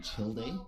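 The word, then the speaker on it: Childe: as well he said we call him chill day i appreciate it guys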